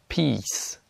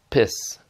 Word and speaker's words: peace: Donc il y a peace, beach, sheet, et il y a piss, bitch, shit. Donc ça, il faut pas dire.